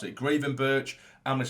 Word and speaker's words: Gravenberch: We now have, Carvalho, Gravenberch, even though some people have told me to pronounce it Gravenberch. I'm going to say Gravenberch because it's just the way I say it.